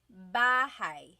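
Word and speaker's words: bahay: saying that with me bah bah you might notice that the spelling is a y at the end so it looks like bah but it's pronounced bah that ay combination is bah bah now you might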